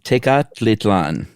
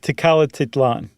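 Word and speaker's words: Tecalitlán: Tecalititlan. We'll say it again? Tecalititlan. Oh, okay. Is that right? No. I added a T just to make it easier. I think you said it right the first time.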